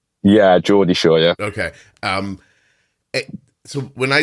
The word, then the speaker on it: Geordie Shore: Geordie Shore? Yeah, Geordie Shore, yeah.